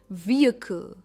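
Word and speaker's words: vehicle: Next word है, इसकी pronunciation है व्हीकल। स्ट्रेस वी पर है, व्हीकल।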